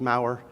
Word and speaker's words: Maurer: And I say, my last name is Maurer, rhymes with flower. She says, my last name is Edding, it rhymes with wedding.